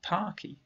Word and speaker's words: parquet: Banquet is not nearly parky, which is said to rhyme with sparky.